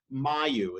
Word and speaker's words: Mayu: about from your series is your series called Mayu is that right yes that's how you pronounce this and this is a dancer who